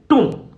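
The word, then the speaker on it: tomb: वुल बोलेंगे ठीक है इसको अपन बोलेंगे टूम ठीक है टूम यहां प जो बी है वो साइलेंट है और इसको अपन डबल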